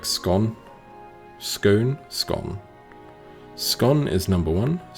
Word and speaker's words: Skåne: So it's 2-syllable word, so it's like Skåne. Skåne.